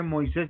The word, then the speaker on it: Moisés: Y acá se supone que Moisés lleva acento en la I, ¿cierto?